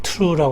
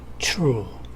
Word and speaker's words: true: 이렇게 잇몸에 만 탔습니다 그래서 true 를 바람 한테 투 러 가지 않고 추 try 를 발음할 때 트라이 라고 하지 않고 쳐라 이런식으로 발음이 하죠 이 부분에 대해서 우리 원어민